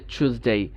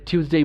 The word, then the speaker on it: Tuesday: তার মানে এই নয় যে একটা ব্রিটিশ আমার সামনে বলছে চুজডে, তার মানে টিউসডেই বললে ভুল না, দুইটাই সঠিক।